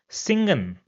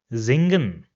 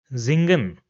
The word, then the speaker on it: singen: So for example we have this word over here and it will not be pronounced as singen rather it will be pronounced as zingen zingen.